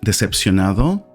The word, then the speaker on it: decepcionado: ¿Por qué te sientes decepcionado?